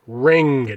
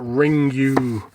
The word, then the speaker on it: Ring: fun the ring collection yes ring not ring you god damn it this is something i always rag on i cannot stand people calling it ring you because here's the fact of the matter the movie is named ring in japanese there's no word ringu it's just how they pronounce the english word ring so you know what